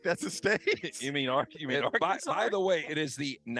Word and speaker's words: Arkansas: You mean Arkansas?